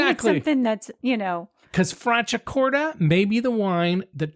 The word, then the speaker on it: Franciacorta: In Italian, when you see the letter C followed by an I or an E, the C is pronounced ch, like the word check, not S as it is in English.